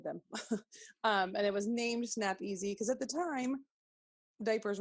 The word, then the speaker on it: Snap-Ez: easy easy snap ease it's not snap ease its snap easy like a sy anyways she'll go over